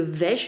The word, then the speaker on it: Vesh: Alors non, pas de Wes, ça s'écrit de Vesh, V-E-S-H.